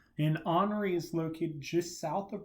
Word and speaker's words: Henri: depression fred tropical storm grace and tropical storm honoree yes that's how you pronounce it it's not henry it's henry an honoree is located just south of bermuda at the